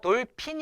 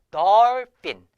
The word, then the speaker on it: dolphin: 투 두 투 알겠죠 그래서 널 빈 이에요 돌핀 이 아니에요 덜 뀐 자 그리고